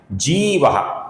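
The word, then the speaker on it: जीवो: कुछ लोग इसका जीवा ऐसा ह्रस्व उच्चारण करते हैं जो कि गलत है। इसका सही उच्चारण है। लंबाई के साथ जीवा जीवा का जो विसर्ग है इसके आगे विनयता का व आने के कारण इस विसर्ग का ओ होता है।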